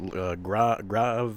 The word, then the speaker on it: Grachev: Grachev?